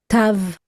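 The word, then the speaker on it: תו: And the last letter of the Hebrew alphabet is Tav. Tav. T, as in get.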